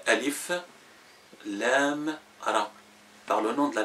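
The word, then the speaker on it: الر: les prononce pas attachés on les prononce détaché par exemple sur Joseph on a le a L et R r donc on dit a l r mais en arabe on dit Alif Lam r par le nom de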